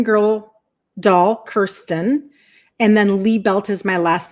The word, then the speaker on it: Liebelt: doll Kirsten and then Lee belt is my last name l i e looks like lie down and then belt that you wear around your pants but it's pronounced Lee belt so Kirsten Lee belt